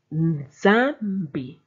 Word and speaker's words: Nzambi: Now let's learn to pronounce M with a consonant and N with a consonant coming after them. You find a lot of these words in Tshiluba. Nzambi, MB, mbi, mbi, which means God.